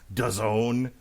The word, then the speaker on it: DAZN: Would you be watching Mikey Garcia versus Jesse Vargas on DAZN, which rhymes with Endzone?